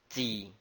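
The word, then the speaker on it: 己: The soil is pronounced as Ji.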